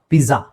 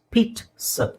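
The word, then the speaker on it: pizza: ಬಹಳ ಜನ ಮಿಸ್ ಮಾಡೋದು ಪಿಜ್ಜಾ ಪಿಜಾ ಪಿಜಾ ಅಲ್ಲ ಇಟ್ಸ್ ಪೀಟ್ ಸ ಪೀಟ್ ಸ ಆ ಅಂತ ಹೇಳೋ ಅವಶ್ಯಕತೆ ಇಲ್ಲ ಪೀಟ್ ಇಲ್ಲಿ ಟಿ ಇದೆ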